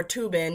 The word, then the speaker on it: Thuban: But asteroid Vesta is now at fixed star Thuban, or Tubin if you want to use the pronunciation that most Eastern Indians use when they pronounce a TH, because they don't.